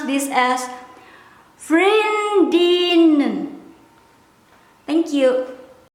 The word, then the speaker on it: vriendinnen: plural girlfriends, this one, some people might skip the letter N, but I will not skip. I will pronounce the skip first. Vriendin, vriendin, vriendin. I will pronounce this as vriendinnen.